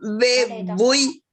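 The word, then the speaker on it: vevúi: Y acá en bebuy. Bebuy. Bebuy. Entonces allí se carga la voz en la U.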